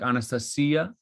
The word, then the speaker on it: Anastasia: you say in Russian in Russian how you pronounce it would be like um and the emphasis is on the C so like Anastasia like that's the that's how in Russian you would pronounce it um can I just say there's an actual footnote in the book volume one where uh the translator uh tells you how to pronounce it and it's just like that it rhymes with Maria it's Anastasia and uh